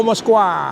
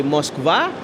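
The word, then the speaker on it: Москва: Oh, Moskwa. Mos kan ada M O C itu Moskwa. Nah, dari Moskva itu kita bisa turun ke bawah itu ke kota-kota Moskow yang lain seperti Volgograd.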